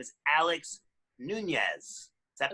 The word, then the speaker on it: Nuñez: And our extra special guest is right over there, and her name is Alex Nunez. Is that pronounced right?